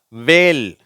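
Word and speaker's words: whale: வேல். இங்கே H silent ஆயிடுச்சு.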